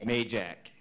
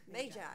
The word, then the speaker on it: Majak: Majak. Majak. That's easy. Like a bike. Why can't you spell it that way? M-A-Y-J-A-C-K.